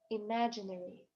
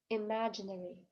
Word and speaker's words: imaginary: Imaginary. Imaginary. Тоже ударение падает на второй слог.